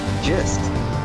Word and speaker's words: gist: It's spelled with a G, it's pronounced with a J, but you can also pronounce it with the hard G.